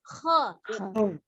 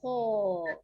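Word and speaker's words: خ: Kho. Tapi secara pengucapan harokat tetap dia fathah. Maka posisi mulut terbukanya sama. Ja, ha, kho. Ja, ha, kho. Ya, tidak ja, ha, ho.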